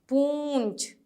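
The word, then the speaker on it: पूँछ: प में ऊ की मात्रा पू, और ये चंद्र बिंदु छ, पूंछ। इसमें भी वही उच्चारण आएगा, थोड़ा सा नौ वाला उच्चारण।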